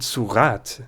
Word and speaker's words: sourate: So in surat, the final E lets us have our T, but lop off that